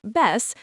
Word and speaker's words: vez: The word vez, pronounced ves, means time or occasion.